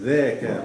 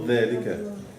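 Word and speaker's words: ذاك: It is dhaka, not dhalika. Dhaka. Is that? So is it Zaka or Yeah. No, it is dhaka. Dal, alif, ka. Dal, alif, dhaka. It's not dhalika.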